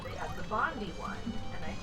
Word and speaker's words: Bondi: So like I assume if you see it spelled like this, but it's Bondi.